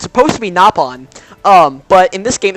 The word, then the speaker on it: Nopon: It's supposed to be Nopon, but in this game it's pronounced Nopon.